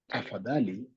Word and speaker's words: tafadhali: Could you pronounce that again? Tafadhali? Yes, it is tafadhali. Da. Tafadhali. So it's da de.